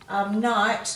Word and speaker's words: knight: Knight, now this knight with the silent K is someone who serves the king, so if we take away that K, we've just got N-I-G-H-T, and that's night time, it's the opposite to day.